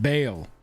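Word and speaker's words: Bhaal: we want those dying it is pronounced bail like christian got it but hail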